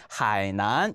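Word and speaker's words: 海南: 그렇기 때문에 문장 속에서 들리는지 안 들리는지를 확인을 해주면 되기 때문에 음성적인 역할을 해주는 하이난 이 표현을 꼭 마음속에 하이난이라고 읽는 단어가 나오는지 안 나오는지도 함께 확인해 볼 거예요.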